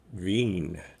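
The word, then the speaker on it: Wien: a bit confusing as the name of the city is V there is a difference between the two the trick is the two-letter combination EI is always pronounced I and I E is e so the second letter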